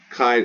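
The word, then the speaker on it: χ: where they got chi kai i transliterate this as uh because i don't like c i like uh k h uh it is like the ch in chorus not cha but k so it's kappa that's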